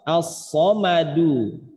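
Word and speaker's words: الصمد: Atau misalkan pada contoh as-somadu, pada kata as-somadu di sini ada dal harokatnya dhammah atau dhummah. As-somadu, maka ketika berhenti bacanya menjadi as-somad. As-somad.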